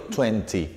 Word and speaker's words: twenty: y 20 30% y en inglés americano y centre ni directamente la t no se pronuncia en inglés británico twenty ok fíjense que acá